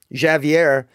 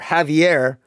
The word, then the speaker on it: Javier: well be that um Javier is in fact or Javier I always pronounce the J I apologize to my Spanish listening friends Javier is is likely